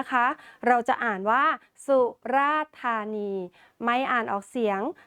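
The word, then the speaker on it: สุราษฎร์ธานี: กัน เลย นะ คะ เรา จะ อ่าน ว่า สุราษฎธานี ไม่ อ่าน ออก เสียง ด ชดา กับ ร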